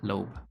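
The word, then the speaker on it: Loeb: from now on it's so much easier to pronounce lob lobe yeah lobe okay this would not be the first time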